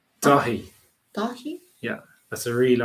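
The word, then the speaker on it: Daithí: 그리고 what is Dahi? Dahi. He cannot spell it. Daithai. Daithai. Dahi. Dahi. It's like Korean name Dahi.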